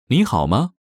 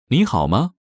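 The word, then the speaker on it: 你好吗: way how are you nihalma first is next is how good how how pronunciation note when there are two third tones in a row the first one changes to the second tone listen to the pronunciation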